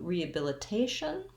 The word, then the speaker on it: rehabilitation: would actually use it when we change to rehabilitation all we would need to do there is we have the same first part rehabilitation except that my stress changes so in rehabilitation i still have secondary stress on the re i still have my schwa then i'm going to have secondary stress on bill so it has a